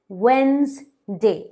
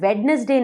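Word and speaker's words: Wednesday: नाम इंग्लिश में वृद्धि वेंस्डे इसे हम वेडनेसडे नहीं कहते हैं इसे अब इसे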